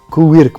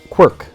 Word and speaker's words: Quirk: вот кириллицами писать, да, Куирк произносится, да, а в Америке вот Quirk произносится, то есть это произносится по-другому, это ирландская фамилия, и это означает, ну,